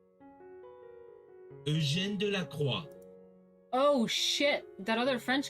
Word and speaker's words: Delacroix: No other painter of the time explored the domain of romantic subjects and mood as thoroughly and definitively as Delacroix.